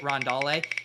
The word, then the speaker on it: Rondale: ff doom mentioned this should have pronounced it rondale chris g has infiltrated